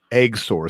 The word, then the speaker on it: XOR: company called Eggsor, and it's spelled XOR, pronounced Eggsor.